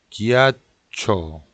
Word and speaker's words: ghiaccio: GH 발음은 우리말로 기의 발음이 납니다. 김씨 할 때, 기. 기아초, 기아초, 얼음이란 얘기예요.